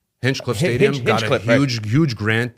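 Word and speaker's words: Hinchliffe: You know, I did see I hope I'm saying it right, that the Hecatuff Stadium, Hinchcliff Stadium got huge, huge grant that got rebuilt.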